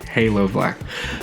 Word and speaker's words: Halo Blk: color foreign I think I've been saying it wrong it's Halo black a big thank you